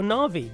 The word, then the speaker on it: Na'vi: She's like uh Na'vi or Na'vi, depending on how you want to pronounce it. Um, I always I I switch back and forth, but I always like to pretend it's um Nav'i, as in Navigator.